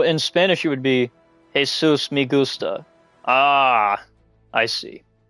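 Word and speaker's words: Jesús: Actually, as for Spanish, Jesus is pronounced as Jesus.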